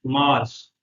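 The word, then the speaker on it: مارس: March, मार्स।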